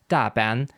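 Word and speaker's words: 大班: The rule being, new arrivals start as Griffons and eventually, if they succeed in Shanghai, become Taipans, a Cantonese term technically pronounced Daban in Chinese, meaning big rank, aka top rank of a businessman.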